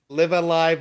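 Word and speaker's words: Live A Live: bit about live alive live Alive live and live I I still don't know how to pronounce it says it's live alive and he was in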